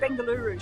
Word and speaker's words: Bengaluru: I should say Bengaluru, shouldn't I? Apologies, Bengaluru, got to get it right.